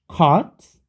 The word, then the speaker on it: caught: Ini baca caught, K-nya pakai yang K rada tebel ya, caught.